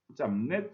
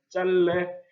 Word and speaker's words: 짧네: 배 잘래 중에 어떻게 발음하는 게 옳을까요 짠내 짠 4 짬 내 짧네요 내일 비운 비율로 가름 해야 해요 이것은 뇌의 요안 실생활 속에서 실제로 짬 내라고 만나다 해요 그렇지만 어떻게 발음하는 것이 표준발음 국내 맞아요 짤 래 이렇게 발음해야 해 이것이 바로 표준 발음 이에요 예 지금까지 응